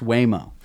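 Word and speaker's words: Waymo: how could a guy not know how to pronounce way mo oh it's not wha mo it's not wha mo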